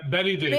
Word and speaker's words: Bette Davis: and John Cena and Bette Davis. Is that how you say it? Betty Davis. Betty, yeah. There you go.